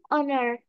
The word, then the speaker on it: honor: examples krina an honor H is silent here okay every everything everything